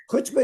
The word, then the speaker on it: chutzpah: Or like chutzpah? No, you're saying it right, but no. Chutzpah is like, you know, when you really don't want to do something and you force Yeah, yourself.